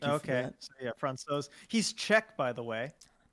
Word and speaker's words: Francouz: Denver Post with the pronunciation. Thank you for that. So yeah, Francouz.